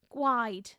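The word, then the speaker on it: gwaed: Gwide. It sounds like wine, doesn't it?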